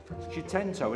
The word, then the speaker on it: Seicento: Lot number 204 is the Fiat Seicento Sporting. Here we are. How did you pronounce it? Seicento, innit?